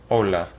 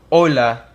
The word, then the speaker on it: hola: So here we have hola. Now you'll notice that it's spelled with an H. This is because the H in Spanish is mute. It's silent. You don't pronounce it. So hola.